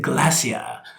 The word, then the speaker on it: glacier: GE glacier oh yeah you don't quite say it like Bear Grylls but close glassy-eyed he says it Glacia right which sounds so awesome right okay okay but